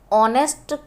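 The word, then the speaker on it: honest: इस लफ्ज़ में ऑनेस्ट बोला जा रहा है, एच साइलेंट है तो ओ वॉवेल है इसलिए यहाँ पे लगेगा एन ऑनेस्ट गर्ल।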